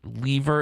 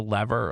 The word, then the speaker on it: lever: And by the way, is anyone bothered by lever as opposed to lever? Like, are there 2 camps with that? Is it like a Yankees and Red Sox thing where some people pronounce it lever and some people pronounce it lever?